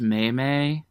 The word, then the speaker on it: meme: sell that on a Hot Topic shirt it's pronounced maymay that Mamie is dead you killed it we